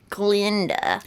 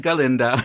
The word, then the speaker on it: Glinda: and it's glinda glinda it's spelled with an eye that frustrates me glenn glinda not galinda it's not glenda it's galinda glinda glinda